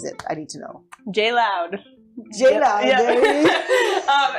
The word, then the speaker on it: J. Leod: Um, and my last name is Mloud. So, it's like J L O D. So, it's spelled like my last name. That's it. But it's like J loud.